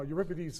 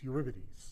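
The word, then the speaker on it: Eurybates: So when you look at these things in um in orbital element in space you see clumps right and everybody uh uripidities is the brightest I have to say we've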